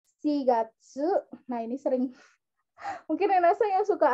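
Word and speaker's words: 四月: 7 dan 9 itu bukannya Yong Gatsu terus nanagatsu terus Kyu Gatsu ya tapi kita menggunakan cara baca cara baca lain dari 47 dan 9 yaitu shigatsu nah ini sering mungkin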